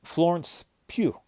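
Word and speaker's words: Florence Pugh: Florence Pew um is is her name. I think that's how it's pronounced.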